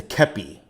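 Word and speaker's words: kepi: a scout for them the hat you mentioned is a keppy though it's spelled cappy okay good all right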